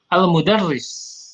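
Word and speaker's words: المدرس: Di sini lihat, jangan dibaca tadi, bacanya yang benar adalah mudarris. Kemudian diperhatikan, ikhwah fillah, kalau ada syiddah, tasydid di sini dibaca dengan ditekan, ya. Al-mudarris. Ini akan lebih dipahami oleh orang Arab, ya.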